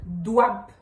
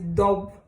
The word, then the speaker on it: douab: Douab. On dit douab. Il y en a qui disent dob. Mais je pense que ça, c'est avec une prononciation très francophone. Je ne sais pas pourquoi. Douab.